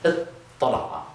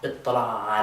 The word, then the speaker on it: اطّلع: And with tala'a, we're going to change that ta to a ta, but then we're going to have two tas, which means that we can do the same trick we did up here and put them under one roof with a shadda.